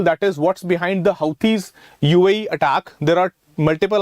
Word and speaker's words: Houthi: you have you know the roots of the houthi movement they can be traced to the believing